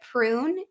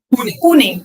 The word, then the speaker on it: Pune: Do you say it prune India or how do you say it? Pune.